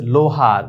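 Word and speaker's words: لوہار: তো লাম ওয়াও পেশ লো হে আলিফ রে, এটা কিন্তু আমরা লুহার বলি, তাহলে ভুল। একটু আগে যে আমরা ওয়াই মারুফ উচ্চারণ শিখেছি সেখানে কিন্তু দীর্ঘকার, এখানে দীর্ঘকার নয়, এখানে বাংলায় ওকারের মতো উচ্চারণ হবে। লাম ওয়াও পেশ লু না, লাম ওয়াও পেশ লো, তাহলে লোহার।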